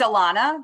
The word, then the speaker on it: Alana: answer to both because no one can say it right so it's alana but when you call me elena i'll still respond